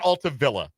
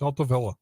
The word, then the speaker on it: Altavilla: Dan Altavilla. It is not. Is it not Altavilla? It's Altavilla. Is it Altavilla? Yeah, Okay. we had a whole thing about this a couple weeks ago. Dan Altavilla.